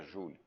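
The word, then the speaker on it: joule: de jales o joelho na pronúncia correta seria julho nem eu consigo falar julho ou em termos de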